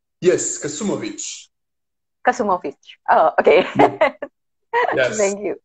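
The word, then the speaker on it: Kasumović: goes with one special Croatian letter, but it kind of not available in the English. So it's with the C, but it's pronounced Ch. I see.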